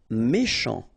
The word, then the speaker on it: méchant: Méchant. final T not pronounced, then CH, ch, chant, méchant. Inhabituel.